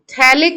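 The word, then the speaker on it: phthalic: थैलिक acid एक compound है। थैलिक acid होता है। COOH COOH अगल-बगल अगर रख जाए बेंजीन रिंग पे तो इसको बोलते हैं थैलिक एसिड। टीपी साइलेंट होता है।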